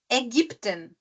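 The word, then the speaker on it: Ägypten: componente junto tá então o a trem ele tem o som do e do português é como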